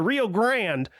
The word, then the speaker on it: Rio Grande: calls it the re they say the Rio Grand, but it's spelled Grande, so I feel like it should be called Rio Grande. But anyway, I thought it was Rio Grande.